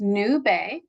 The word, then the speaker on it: Nube: Uh it's pronounced Nube and is the Spanish word for cloud.